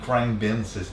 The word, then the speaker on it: Khruangbin: I don't know how to prononce it. Khruangbin? - Khruangbin.